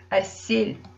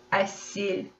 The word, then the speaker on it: әсел: Обратите внимание, в казахском языке, если буква «Л» стоит рядом с мягкими гласными, как вот в нашем случае, «Л» будет всегда звучать мягко, как будто стоит мягкий знак.